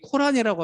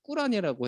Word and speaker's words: 꾸란: 이제 꾸란에 보통 이슬람 사람들이 코란이라고 하면 굉장히 싫어합니다. 혹시 그거 아세요? 영어식 발음 코란이라고 하면 싫어하고 무함마드에 대해서도 영어식으로 무하메드라고 하면 굉장히 싫어하고요. 그래서 발음 그대로 무함마드라고 해야 되고 그리고 코란에 대해서 꾸란이라고 해야지 이렇게 코란이라고 하면 되게 예의 없다라고 본다고 해요.